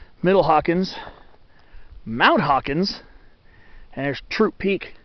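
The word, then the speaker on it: Throop Peak: mountains Sadie Hawkins middle Hawkins mount Hawkins has troop peak it's spelled th Roo P was supposed to be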